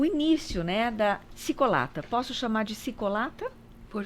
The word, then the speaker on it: Çikolata: Isso, na verdade, Cicolata seria Ticolatá, que é chocolate em turco, que é descendência da nossa família, né?